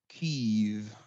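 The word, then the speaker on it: Kyiv: and it's actually not kiev either it's uh there's sort of a u that that kind of a u sound that kind of merges in with the e so it's it kind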